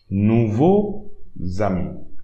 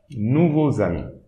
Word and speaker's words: nouveaux amis: So the Z, the imaginary letter should be at the beginning of the second word. Not at the end. We should not pronounce it at the end of the first word, but at the beginning of the second word. So here, nouveau as usual. Now, at the beginning of the next word, you pronounce that side imaginary letter, zami. Nouveau zami.